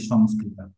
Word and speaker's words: সংস্কৃত: ব্যাখ্যা বিশ্লেষণ আছে কিন্তু মনে রাখবেন সবসময় যে অনুস্বারের পরে যদি স্বরবর্ণ থাকে বা এই স্বর ধ্বনি থাকে তাহলে সবসময় ম উচ্চারিত হয় আর পরে যদি ব্যঞ্জন বর্ণ থাকে বা ব্যঞ্জন ধ্বনি তখন অনুস্বারটাকে অং করে উচ্চার করতে হবে অং সংস্কৃত যেমন বলি সংস্কৃত তো আমরা আবার ইংলিশ